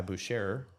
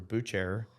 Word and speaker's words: Bucherer: recently in 2018 by Boucher or butcher I think it's Boucher I think it's like